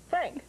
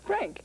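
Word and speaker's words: Phranc: Frank. Spelled with all those Frank consonants. P-H-R-A-N-C. Frank.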